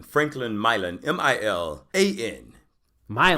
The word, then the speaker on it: Milan: Milan. Franklin Milan. M-I-L-A-N. Milan. Spelled exactly like Milan. Pronounced extremely differently.